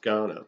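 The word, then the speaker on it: Kaurna: k-a-u-r-n-a but it's spelled it's spelled um with a K but it's actually pronounced Ghana very much like the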